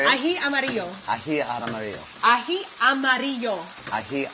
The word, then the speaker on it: ají amarillo: Ají amarillo.